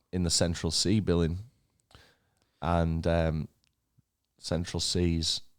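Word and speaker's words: Central Cee: off all the other guys on that day Central c key essential Central sea really popular really really popular how would you ever pronounce that as key because it's a a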